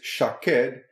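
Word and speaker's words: שָׁקֵד: Hebrew, we realize that the Hebrew word for an almond tree, is shaked, and the Hebrew for watch over is shoked. In both cases, spelled shin kuf dalet, but with different pronunciations.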